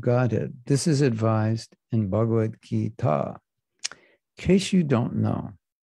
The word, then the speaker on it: Bhagavad Gita: We'll just say Krishna says in the Bhagavad Gita.